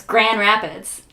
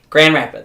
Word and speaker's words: Grand Rapids: Yeah, but you don't pronounce the D. It's Grand Rapids.